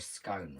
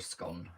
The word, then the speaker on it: scone: a dumpling or a scone, really, or a scone, however you want to pronounce it. It's one of those things that is said differently in whichever part of the UK that you live.